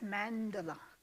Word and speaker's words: Mandorla: mom person here um the pronunciation is mandala it comes from the italian word for almond and the almond shape